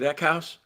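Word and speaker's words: Eckhaus: Is it Eckhouse? Zev Eckhouse.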